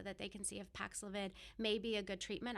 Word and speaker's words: Paxlovid: You know, I'm talking about, I think it's called Paxlovid. Did I say it right? Because they always have different names. You said it correctly. Paxlovid.